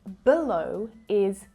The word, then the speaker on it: below: Có thêm một nguyên âm nhỏ ở đó mà các em cần chắc chắn rằng các em phát âm nó khi các em nói below.